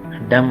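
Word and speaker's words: dumb: एस डम S statue डम आपको पता है बी साइलेंट के साथ पड़े दूसरी बात य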